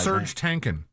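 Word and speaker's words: Serj Tankian: Serge Tankin. Is that how you say it? Yes.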